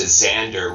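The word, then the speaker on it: Sándor: Well, I knew Xandor before he changed his name back to Xander, which is kind of the Hungarian pronunciation that's correct.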